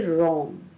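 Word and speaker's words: wrong: है वो साइलेंट है इसी तरह से रंग डब्लू यहां पर भी साइलेंट है डब्लू आर ओ एन जी तो आर ओ एन जी हम प्रोनाउंस करते हैं ना कि रंग में डब्लू का उच्चारण नहीं करते हैं थैंक्स फॉर वाचिंग द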